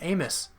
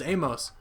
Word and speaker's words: Amos: Another thing, I heard Adrian Amos say his name, and it's not Amos. Apparently it's Amos. Just another random thing. I don't know if you guys knew that, but I always thought it was Amos.